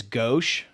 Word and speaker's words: gauche: I think somebody correct I think the correct pronunciation is gauche.